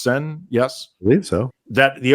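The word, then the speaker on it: Seine: opening ceremonies down uh the river sen it's pronounced sen yes believe so that the opening ceremonies there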